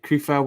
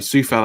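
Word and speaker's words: Souček: So Kufal with the throw-in. Sorry, Sufal, I should say. Sufal with the throw-in. Keep forgetting it's not Kufal as it's spelt.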